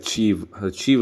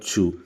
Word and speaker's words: chew: Most of the people would pronounce like cheeve இல்லை chew.